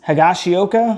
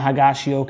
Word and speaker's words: Higashioka: the field and then it's I think it's hagashioka I think that's how you say it the catcher hands up single on the right and Volpe scores and then they end up throwing out higashioka at second base to get out of the